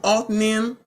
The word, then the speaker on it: Othniel: Child, I've been saying the name wrong. Othniel.